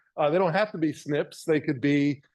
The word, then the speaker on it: SNP: don't have to be Snips they could be and that's how we pronounce that SNP snip but there are other